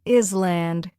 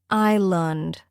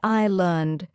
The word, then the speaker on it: island: 16th word, island. Wrong, island. Correct, island. The S is silent. Say island.